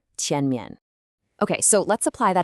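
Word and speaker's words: 前面: The tone is the second tone, the rising one. It should sound like you're asking a question. Tian. And the second syllable, mian, usually gets a neutral tone here, so it's very light. The real emphasis is on that first syllable, tian mian. Listen one more time, tian mian.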